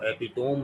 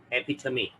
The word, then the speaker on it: epitome: इसको एपिटोम नहीं पढ़ते, इसको पढ़ते हैं एपिथमी।